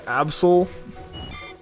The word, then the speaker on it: Absol: yeah it's basically a absol that pronounces as absol too or like absolutely you're a tutor you